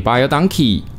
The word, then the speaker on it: Baie Dankie: 谢谢的意思，所以 buy a donkey 意思就是 thank you very much 啦。